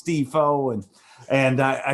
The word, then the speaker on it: DeFoe: name and he's like you've been saying it wrong it's defoe and and i said